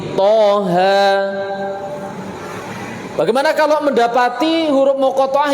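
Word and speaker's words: طه: Nah, kalau toha di sini berapa toknya, berapa haknya? 2 sama 2. Kenapa? Karena termasuk mat tabi'i, toha.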